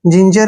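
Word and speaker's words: ginger: एन जी ई आर जिंजर जिंजर में भी क्या है जी के बाद आई आया है जब भी जी के बाद आई आता है तो जी का उच्चारण हम ज करते हैं जिम जिम में क्या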